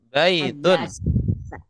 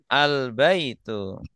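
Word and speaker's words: الْبَيْتُ: Ya, kalau ada alif lamnya tidak boleh tanwin akhirnya ya. Kalau ada alnya jadi al-baitu.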